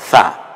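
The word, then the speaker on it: ث: হয়ে যাবে, হরফটার নাম সা। এখন এই তিনটাকে আমরা মিলিয়ে পড়ে, সাটা নরম আওয়াজে জিহ্বার আগা সামনের দাঁতের আগার সাথে মিলিয়ে উচ্চারণ করুন, সা সা।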